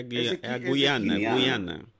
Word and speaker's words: Guiana: Como é que se pronuncia o nome em português? Que está em conflito com a Venezuela. É a Guiana.